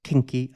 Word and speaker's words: King Key: Today I want to look at this new kinky, actually pronounced kinky, I think it's a pun on kinky, by Caelum.